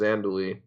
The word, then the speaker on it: Zhandaly: so my name is the screen name is pronounced andouille and it's a really